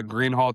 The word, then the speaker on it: Greenhalgh: It's really People spell my last name and pronounce it wrong all the time. The gh is silent, but yeah.